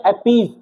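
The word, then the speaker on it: appease: इसको पढ़ते हैं अपीज। क्या पढ़ते हैं? अपीज। स नहीं पढ़ते, ज पढ़ते, ज।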